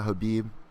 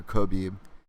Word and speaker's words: Khabib: People in Russia, Habib. Over here in America, Khabib. Whether you want to pronounce that K or not, but undefeated, and that's my argument.